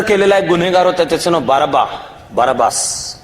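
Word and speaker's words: Barabbas: गुन्हेगार होता त्याचं नाव बाराबास इंग्लिश स्पेलिंग केलं तर बाराबास उच्चार बाराबा होतो त्यांनी जनतेला विचारलं की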